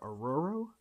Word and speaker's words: Aurora: best on Aurora Aur how does she say her name it's not Aurora aoro aoro aoro attack training man I'm